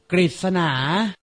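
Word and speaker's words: กฤษณา: และ เรอ ขอ รับ อ่าน ออก เสียง ริ เช่น ฤทธิ์ กฤษนา อ่าน ออก เสียง รึ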